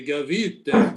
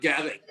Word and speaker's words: Gavite: It's Salvatore Gavite, but I think he pronounces it Frank Gavitt.